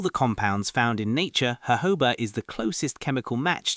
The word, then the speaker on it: jojoba: It's spelled Jojoba. Is it Jojoba?